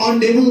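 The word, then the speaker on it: honorable: अगला क्वेश्चन है ही इज नॉट ऑनरेबल मैन, वह प्रतिष्ठित व्यक्ति नहीं। तो ऑनरेबल ये उच्चारण इसका हो रहा है वॉवल साउंड का, ऑनरेबल।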